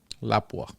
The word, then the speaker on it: Lapua: Lapua.